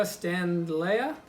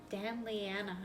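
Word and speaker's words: standleyana: They had the Monstera standlea. Is that how it's pronounced? Stanleyana. Yeah.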